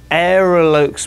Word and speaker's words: Aerolux: Now we get to, and I'm assured this is the correct way to pronounce it, although I'm not sure that's right, Aerolux Marketing.